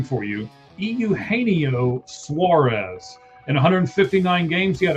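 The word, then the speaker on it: Eugenio Suárez: I'm going to help you pronounce his name for you. Euaneio Suarez.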